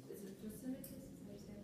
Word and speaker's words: Thrasymachus: Is it Thrasymachus?